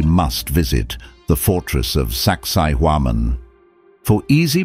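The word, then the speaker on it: Sacsayhuamán: visit the Fortress of saksiwaman for easy pronunciation saksai huaman is pronounced like sexy woman this Fortress sits atop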